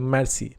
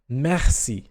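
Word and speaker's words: merci: भी मैर्सी बोलते हैं, जबकि इसका प्रॉपर जो प्रोनाउंसिएशन होता है वो होता है मैसी मैसी मैसी। अब यहाँ पे जो आर है इसका वॉइस इंटोनेशन बहुत कम है, तो इसका साउंड बहुत कम आता है, ह के रूप में हल्का सा मैसी।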